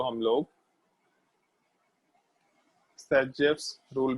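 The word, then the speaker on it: Zaitsev: हम लोग ये वर्ड जैसेफ रूल वर्ड यूज नहीं करेंगे, बट अगर इन केस कहीं आता है तो ये चीज ध्यान रखना कि इसका प्रोनाउंसिएशन सैजेफ के जैसा होता है।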